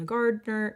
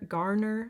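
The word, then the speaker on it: Julia Garner: Um, you'll see softer shades like like softer corals, peaches on Julia Gardner. Garner, I don't I always say her name wrong.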